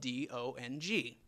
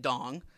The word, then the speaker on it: Dong: So it's actually pronounced Dong, I learned months later.